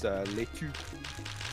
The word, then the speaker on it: laitue: Do you know how to say the word lettuce in French? It's laitue. Laitue.